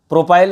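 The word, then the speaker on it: propyl: प्रोपाइल और प्रोपिल एक ही बात है, बस वो प्रोनाउंसिएशन में डिफरेंट है, ठीक है। अलग अलग लोग प्रोनाउंसिएशन जो है वो अलग अलग टाइप का यूज़ करते हैं, इसलिए कोई प्रोपाइल बोलता है, कोई प्रोपिल बोलता है, आपकी मर्जी, आप जो बोलना चाहो बोल सकते हो।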